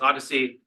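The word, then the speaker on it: OHDSI: continuing conversations as well so Odyssey so it's pronounced Odyssey operational Health Data sciences and informatics so so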